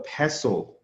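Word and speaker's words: PESTLE: It's called a pessle. P S Tle E. The next one is a teacup, pronounced teacup.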